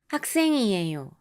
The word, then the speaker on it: 학생이에요: そして学生ですは 학생이에요 でイウンパッチムの後、また次の字がイウンから始まりますが、この場合は、학생이에요 か 학생이에요 のように違う子音の発音が入らないように注意してください。